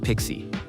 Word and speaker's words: PKCE: Authorization code with PKCE, pronounced Pixie.